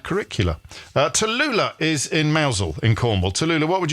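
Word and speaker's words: Mousehole: congratulating myself then for pronouncing mousel correctly cuz not everybody would have done some people would have said you were in mouse hole but anyway never mind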